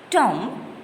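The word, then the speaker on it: tomb: Tom, B is silent.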